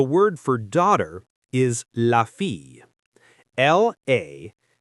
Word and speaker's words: fille: The word for daughter is la fille. L-A-F-I-L-L-E. The double L sounds like a Y sound.